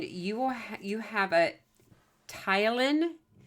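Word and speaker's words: ptyalin: will you have a tyen there's actually a silent P there p t a y l i n mine in the mouth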